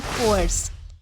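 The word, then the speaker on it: coerce: सा है देन हमारा नेक्स्ट वर्ड है कोर्स इसे जो है वो कोर्स प्र प्रोनाउंस किया जाता है जिसका मतलब होता है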